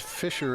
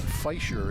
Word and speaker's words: Fisher: well I wonder if my name is Fisher is the English pronunciation and feisher is the German pronunciation uh nine nine somehow